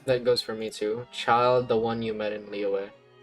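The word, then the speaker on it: Childe: I thought you meant like one of the twins and feminina, but you actually meant child with an E. Like Tortag. Marvelous. Thank you all. Yeah, child is is spelled C H I L D E.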